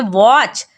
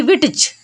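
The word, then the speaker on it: witch: जैसे विच, विच में भी क्या है? टी सी एच लास्ट में है तो टी हो जाएगा साइलेंट, तो पढ़ेंगे विच, ना कि विटच।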